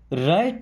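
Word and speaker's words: right: राइट नाउ। अब इस राइट word में दोस्तों टी के पहले कभी भी जी एच आए ना तो टी साइलेंट रहेगा हमेशा याद रखिएगा नाउ का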